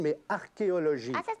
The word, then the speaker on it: archéologie: Non, d'ailleurs, ça ne se prononce pas archéologie, mais archéologie.